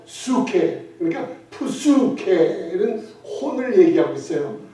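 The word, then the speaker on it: ψυχή: 이 혼도 이 헬라어로 푸수케라 그래요. 피자를 살짝 발음해요. 수케.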